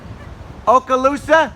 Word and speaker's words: Okaloosa: the it's okay go ahead what is it okaloosa yeah man that's a crazy name huh thank you okaloosa uh okaloosa island fort walton beach florida this is a